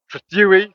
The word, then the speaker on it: Trethewey: Trethewey. This time I pronounced it right.